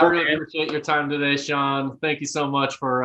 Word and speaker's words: Shaughn: pop up and say it's just sean spelled like vaughn with a-u-g-hn and john tillman just